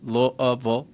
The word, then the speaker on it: Louisville: Seminary in Louisville Kentucky you got to say it properly louville Kentucky I I know that because I went to high school in Louisville uh I also uh went to